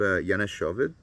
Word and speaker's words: Janushoved: Now, this is on a label I really like, and I discovered it about maybe 2 years ago, called Yana Shovid. I'll spell that for you.